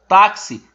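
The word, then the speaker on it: táxi: nós aprendemos sendo assim o x da palavra taxi tem dois som o som do carro e o som do s sendo assim temos quatro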